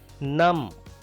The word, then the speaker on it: numb: Numb, B is silent here.